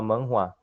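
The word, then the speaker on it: manhwa: obra em quadrinhos sul-coreana a gente fala manuá se escreve com m a n h w a sua publicação foi a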